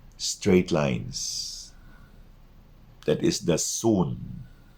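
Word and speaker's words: Xun: lines that is the soon sometimes it is spelled x u n sometimes it's spelled s-u-n but it is read as soon not sun what is it bingo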